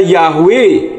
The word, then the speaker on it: Yahweh: w h karena dari huruf Ibrani Yod he W he dan membacanya yahwe dengan huruf he yang ditransliterasi ha Tidak kedengaran misalkan ada huruf mandarin